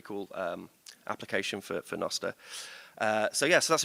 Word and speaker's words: Nostr: out there the first video ever um on nosta where me f jaff um JB and a